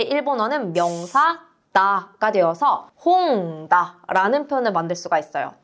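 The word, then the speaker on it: 本: 요 책이라고 하는 한자는요, 일본어로 홍이라고 읽게 됩니다. 홍, 이 책이 되는 거죠. 우리가 이 단어로 책이다 라고 할 때는요, 명사이다 라고 할 때 일본어는 명사다가 되어서 홍다 라는 표현을 만들 수가 있어요.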